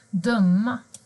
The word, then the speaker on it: dum: Till exempel full, kund, sucka, tupp, underbar, dumma. Men observera att uttalet även är ö i dum när det är en konsonant.